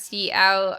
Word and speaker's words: cout: for right now um c out again pronounce c out uh you can uh